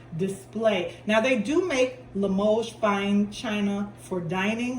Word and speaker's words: Limoges: And Limoges is spelled Limoges, and it's pronounced Limoges. It's French, I think. It's French China, and so the S is silent, even though it's spelled Limoges.